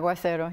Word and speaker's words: Aguacero: One of the stories, Aguacero, did I pronounce that? Aguacero, yeah.